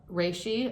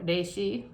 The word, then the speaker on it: reishi: lion's mane there's also uh reishi or reishi if you pronounce it correctly mushroom shiitake mushrooms which